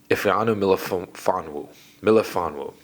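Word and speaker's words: Ifeatu Melifonwu: Hold on, let's pronounce his name right. Ifanu Melifonwu.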